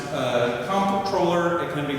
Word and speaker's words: Comptroller: Um, controller. Can it be pronounced uh comproller? It can be pronounced controller. Uh, I only really hear it pronounced controller.